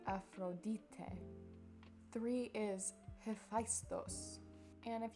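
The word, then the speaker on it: Ἀφροδίτη: number two is aphrodite but they would pronounce it afrodite three is faistos and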